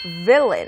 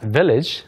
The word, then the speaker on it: villain: 네, 그게 아니고 여기서는 과거분사로 someone is cast as an evil villain. 네. Villain. Not village. Not village. Yeah. Villain.